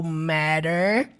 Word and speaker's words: matter: Sutileza do T no final das palavras, igual nós falamos aqui no início da aula. No matter. Perceba que aqueles dois T's é pronunciado com o som de R.